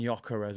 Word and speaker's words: Gyökeres: So we got Osimhen, Tony, Xerxes, and Gyökeres. I'm finally pronouncing his name right now.